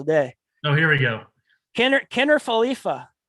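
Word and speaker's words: Kiner-Falefa: Kiner Falefa. Kiner Falefa. Yeah. Kiner Falefa. Not as bad as some of yours. Not falafel. Not Kiner falafel.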